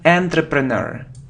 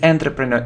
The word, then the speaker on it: entrepreneur: many people make mistakes here look it isn't entry preneur it is an entrepreneur it's all entrepreneur entrepreneur it's like a businessman